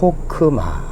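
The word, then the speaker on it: חכמה: 냄 미움과 아 그리고 끝에 부분은 다 너른 있지만 문자로 있죠 발음하지 않는다 그래서 호크마 이렇게 읽는 다고 했습니다 아 그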